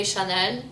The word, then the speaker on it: Chanel: uh you have um chanel chanel we say chanen too like like the french the original french word we say chanel dior